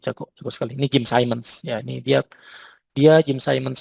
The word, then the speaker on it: Simons: Tapi Ibu boleh googling, boleh search di YouTube Jim Simons ya, Simons ya, bacanya Simons kan.